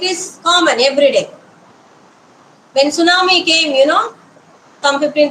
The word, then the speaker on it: tsunami: even know how to pronounce tsunami when T was in the first when you write that's right when you say tsunami how T can come because we have never